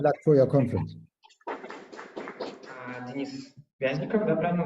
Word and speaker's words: Вязников: Денис Вязников, да, правильно ударение? Да. Денис Вязников, выпускник Шанинки, независимый исследователь, с докладом на тему стратегии отказа от участия в публичной сфере, популизм и фанатизм.